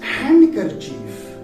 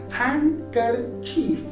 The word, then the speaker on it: handkerchief: Yes, most people pronounce the word as handkerchief. Right? How do they pronounce it? Handkerchief. But the word is not handkerchief, the word is handkerchief. Handkerchief. Because here the letter D comes after letter N.